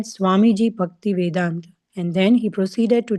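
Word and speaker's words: Swamiji Bhaktivedanta: He said Swamiji Bhakti Vedant, and then he proceeded to tell me what that meant.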